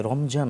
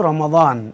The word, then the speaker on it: রমাদান: শব্দ শাহর রমাদান আচ্ছা আমরা যে প্রচলিতভাবে রমজান বলি তাহলে কোন শব্দটা বললে সওয়াব হবে শব্দ রমাদান আমাদের দেশে এমনিতেই এই দোয়াকে অনেক সময় এভাবে আমরা জরাবা বলি আর কি জাস্ট উচ্চারণটা হচ্ছেন বলি আমরা রমাদান বলতে হবে আচ্ছা আচ্ছা এবং হাদিসে